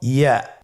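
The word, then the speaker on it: ياء: পরবর্তী হরফটির নাম হলো ইয়া। পরবর্তী হরফটির নাম ইয়া। পরবর্তী হরফটির নাম কি? ইয়া। ইয়া হরফটি উচ্চারণের ক্ষেত্রে বারিক হবে এবং এক আলিফ টেনে পড়তে হবে।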